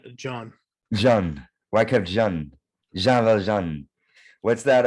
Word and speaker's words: Jean: know that one and I it's well it's pronounced John John why can't what's that uh uh 40601